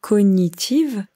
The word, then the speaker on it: cognitive: Alors vous voyez ici, ces capacités cognitives, quand on écrit, c'est écrit cognitive, mais quand on parle, on ne prononce pas le G.